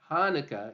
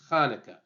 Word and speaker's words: Hanukkah: the spelling sometimes is supposed to tell people to pronounce it like KH so it's not haneka it's Hanukah um so just people